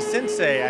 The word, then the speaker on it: Sensei: King, up there with her company Sensei, I believe is how it's pronounced.